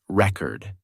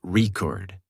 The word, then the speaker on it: record: For example, the word record changes pronunciation based on whether it's used as a noun or a verb. As a noun, the thing, it's pronounced record.